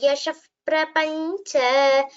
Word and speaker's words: Yasha Prapancha: Visarga followed by Pa. That is Upadmaniya. So we recite it as Yasha Prapancha. Punarupasthapita Vimanavara Vishranana Prinita Vaishravana Vishravita Yasha Prapancha. Punarupasthapita Vimanavara Vishranana Prinita Vaishravana Vishravita Yasha Prapancha.